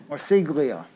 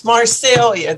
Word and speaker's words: Marsiglia: Marsiglia. Ms. Marsiglia. Thank you. It's Marcelia. The G is silent.